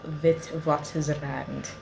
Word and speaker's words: Witwatersrand: i am at the university of with waters around which is how they say it but it's spelled with what is red so i don't understand why w is pronounced as v but i'm not here